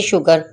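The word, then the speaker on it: sugar: और थर्ड इसकी जब एस के बाद यू आ जाएगा तो एस अकेला शाह की आवाज़ देगा, जैसे शुगर।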